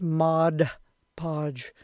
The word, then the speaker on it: Mod Podge: It's Mod Podge, and I'll say it wrong 100 times in this video.